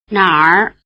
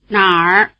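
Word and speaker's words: 哪儿: 哪儿哪儿哪儿 The Chinese writing system treats this final R as a separate ER syllable, although the character is sometimes abbreviated and reduced in size.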